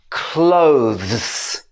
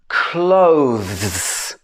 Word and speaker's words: clothes: is really common that a lot of people pronounce wrong this is clothes clothes clothes so this is talking about the clothes that